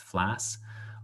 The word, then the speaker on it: FLAS: Area Studies Scholarships, FLAS, it's just pronounced FLAS.